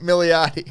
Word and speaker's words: Milioti: That's not how you say it. Milioti. Kristen Milioti.